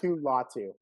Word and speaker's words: Latu: They got the UCLA guy, Latu. I don't know how to say it. Latu is what Cypress. Latu.